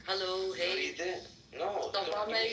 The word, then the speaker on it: vrede: Vrede, Okay. vrede. Brede? Vrede, yeah, bro. Brede. Vrede, like, bro, I write it. Spell it, yeah. Vrede with a V.